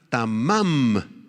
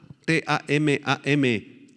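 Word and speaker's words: תָּמַם: colmo la palabra hebrea tamam con acento en la segunda a t a m a m tamam describe algo que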